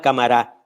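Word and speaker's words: Camará: hay una región llamada cámara con acento en la última sílaba según recuerdan los que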